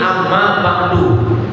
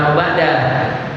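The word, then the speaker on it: أَمَّا بَعْدُ: Engak ditempelin makanya amu Bacanya jangan am ba'da ya seperti itu ammau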